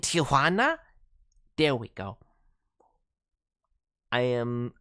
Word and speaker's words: Tijuana: Uh, the airplane made a Simpsons reference with Crusty in Tijuana. Oh, no. Don't pronounce it the Gringo way. With Crusty and Tijuana.